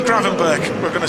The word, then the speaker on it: Gravenberch: By the way, you might have well have heard a few different pronunciations for our new signing from Bayern Munich. A lot of people have said Ryan Gravenberch, but it's not.